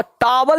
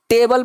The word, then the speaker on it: table: जैसे देखो मैं लिख रहा हूं TABLE, अब ए को अब टावल नहीं पढ़ते, इसको टेबल पढ़ते हैं।